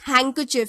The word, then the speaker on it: handkerchief: Then handkerchief or handkerchief. This handkerchief. So D is the silent letter here.